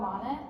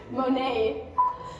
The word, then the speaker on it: Monet: called water lies and it's by by Claude Monet and did I say it wrong how do